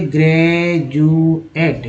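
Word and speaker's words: graduate: अब यहाँ पर एक वर्ड ले लीजिए, ग्रेजुएट। ग्रेजुएट, ग्रेजुएट में डी का उच्चारण ज होता है, ज का उच्चारण से एक डी के साथ ही नहीं हो रहा है, तो यहाँ तो एक्सेप्शन है।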